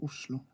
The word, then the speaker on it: Oslo: I think uh 98% says uh Oslo like Uso so yeahi is the station to the